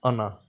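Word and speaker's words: أنا: It is pronounced as ana. When the sentence ends at this word, or if we stop at this word, then it will be pronounced ana.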